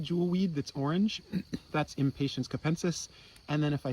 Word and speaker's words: Impatiens: in the genus impatience impatience sounds like the i'm not patient adjective it's spelled a little differently but this jewel weed